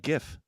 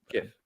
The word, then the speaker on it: GIF: GIF. Okay, thank you. It's a hard G.